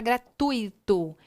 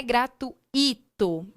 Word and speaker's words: gratuito: de sílaba eu falei sobre a palavra gratuito que não é gratuito porque porque nós temos